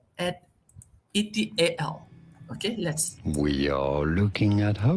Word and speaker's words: et al: So how to pronounce at etal?